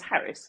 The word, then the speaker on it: Harries: So But my original British surname is Harris, which is a lot simpler, at least for English-speaking people.